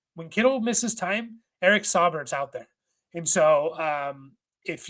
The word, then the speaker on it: Saubert: And then the last one here, and I have to double check how to say his name, is Eric Saubert is the pronunciation guide.